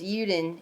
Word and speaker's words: Juden: the world enemy, the Juden, pronounced Uden in German.